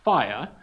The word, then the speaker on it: FHIR: fast healthcare interoperability resources fhir which pronounced is pronounced fire the fire standard which is developed and maintained